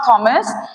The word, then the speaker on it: Thomas: Let me tell you one thing in T H O M A S it's not Thomas H is silent in it we always pronounce it